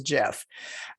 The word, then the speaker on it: GIF: above i hate saying jiff because it's dot gif but i i was told that that is the way it's pronounced as jeff um i'm thinking get